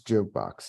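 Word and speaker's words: JKBX: you are at uh jukebox j k b x pronounce jukebox yeah so tell us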